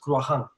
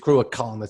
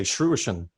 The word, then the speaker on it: Cruachan: So the pronunciation is Cruachan. No, it's a proper CH, Cruachan. It's a hard CH. Now, we've heard people mention, like when we go to Russia, people say Cruachan.